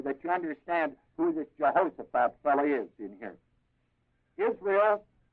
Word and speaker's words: Jehoshaphat: I'll set the kings for you so that you understand who this Jehoshaphat fellow is in here.